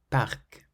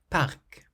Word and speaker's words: parc: The consonants at the end of these words are clearly pronounced. Sac. Sac, meaning bag. Docteur. Docteur, meaning doctor. Œuf. Œuf means egg. Vol. Vol means flight. Parc. Parc is park.